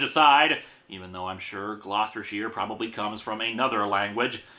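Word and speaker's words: Gloucestershire: here on this one how was I supposed to get the real name out of its spelling what the hell happened to the you in the middle of the word they bought a vowel and didn't know what to do with it and where do you get the S sound for the C in this case however my ramblings about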